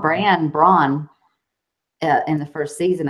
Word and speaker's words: Bran: then people were like say it like raisin bran brand and then when